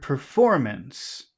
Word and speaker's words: performance: un stew and then we have the word performance and the accent is on perform okay and now we